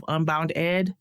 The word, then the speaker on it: UnboundEd: Lacey Robinson is the president and CEO of UnboundEd. I'm pronouncing that correctly.